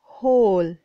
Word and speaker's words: whole: hum party nahi hey DK so this is hole hole okay now note on the homework do